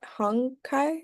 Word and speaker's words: Hankai: Is it Hong Kai? Is that how you pronounce it?